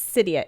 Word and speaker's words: Cydia: that says um it's cydia it's like lydia but with an s because that's how she